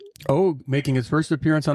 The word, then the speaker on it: Og: Well, how do you say Og in English? What should you say? You say Og.